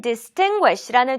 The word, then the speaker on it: distinguish: 네, 오늘 우리 두 번째로 함께할 단어는 distinguish라는 조금은 어려운 단어가 되겠습니다. 발음 연습부터 함께 해볼게요. distinguish, distinguish, distinguish. 두 번째 음절에 강세가 있고요.